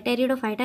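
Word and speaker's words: Pteridophyta: अनावृतबीजी जिम्नोस्पर्म यहां पर टेरिडोफाइटा के स्पेलिंग देखेंगे यहां पर साइलेंट रहता है टेरिडोफाइटा ऐसे पंप है मेनली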